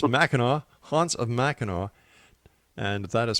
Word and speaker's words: Mackinac: And once again, don't make that mistake I made by calling it machin. It's macho.